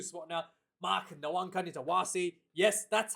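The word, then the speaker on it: Nawaqanitawase: And going to the last 2 spot now, Mark Nwankani-Tawasi. Yes, that's how you pronounce his last name, Nwankani-Tawasi.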